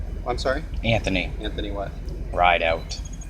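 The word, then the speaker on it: Rideout: sorry Anthony Anthony what ride out how do you spell that the way it sounds I don't know how that sounds ride out ride out r i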